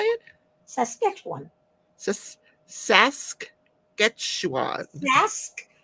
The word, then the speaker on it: Saskatchewan: got to get you to pronounce Saskatchewan. How did you say it? Saskatchewan. Saskatchewan. Sask. You forget the K is mostly silent. Saskatchewan. Well, it's the syllables.